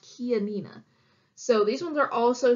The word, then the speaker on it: Chianina: head is it how you think this one's pronounced alright see why you might think this one's like China or China or this one originates in Italy and it's actually pronounced Chianina so these ones are also solid white personally